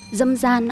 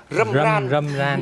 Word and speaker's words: râm ran: Mặc dù phát âm chuẩn của chúng ta nó phải là râm ran. Nhưng mà bạn phát âm rất tròn vành là dâm gian.